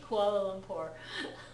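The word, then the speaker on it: Kuala Lumpur: Koala Lumpur. Yeah. I think for that one they were probably getting closer to the Malaysian pronunciation of that city name rather than the English pronunciation.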